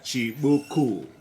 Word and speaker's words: Chibuku: Yeah, Chibuku. That's how we pronounce it.